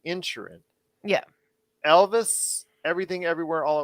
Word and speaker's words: Inisherin: All Quiet on the Western Front, Avatar: The Way of Water, The Banshees of, I know it's spelled Inisherin, but they pronounce it in the movie Insherin.